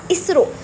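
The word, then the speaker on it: ISRO: आर ओ बन गया इसरो। अब ये जो आपकी शॉर्ट फॉर्म है इसको भी हम एज अ नेम प्रोनाउंस कर रहे हैं।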